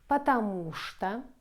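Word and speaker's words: потому что: two combinations chittenden only in few words we pronounce like she so these words an exception be careful patamushta this was an exception so the rest of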